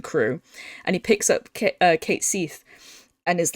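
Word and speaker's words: Cait Sith: experiments so hard Cas if so hard cat cat Seath it's pronounced Kate Seath his the way he plays is just really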